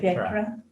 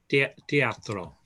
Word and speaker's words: teatro: I don't know how to pronounce it. Teatra. Teatro.